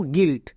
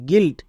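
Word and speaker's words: guilt: আছে I vowel তাই you silent মানে ইউ এর উচ্চারণ করবো না তাহলে কি দাঁড়াবে জি আই এল টি গিল্ট একই রকম ভাবে এখানেও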